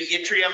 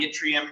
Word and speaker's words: yttrium: I mentioned that yttrium and ytterbium were discovered in the same, I think it's Swedish, but Scandinavian mining town.